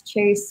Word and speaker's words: Chaise: hop on a call it's Chase my name is spelled really weird c-h-a-i-o-s a little better